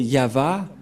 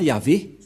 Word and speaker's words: Yahvah: dire non c'est pourquoi il est écrit ici yava et son nom c'est yava son nom et vous voyez que même les catholiques romaines ont euh fait une erreur là-dessus avec les protestants euh qui ont fait JOV et les Catholiques Romains y avaé et je sais pas